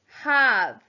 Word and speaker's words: have: short ah number eight have huh ah silent e at the end h a v e